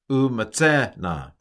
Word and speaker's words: umatzehna: So, umatzehna. And the accent in tiktolna is, I think, before the final syllable. So I think it's umatzehna.